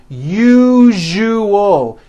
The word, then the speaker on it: usual: syllables you you oh that second syllable jus the one with the underline needs to be voiced put your hand on your throat and feel for the vibration in the second syllable you jus Oh now